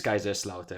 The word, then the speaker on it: Kaiserslautern: It is Kaiserslautern.